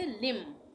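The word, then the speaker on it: limn: उच्चारण नहीं करेंगे मम इसी तरह से लिम इसको भी हम एल आई एम लिम पढ़ेंगे एन का उच्चारण नहीं होगा लिम लिम का मतलब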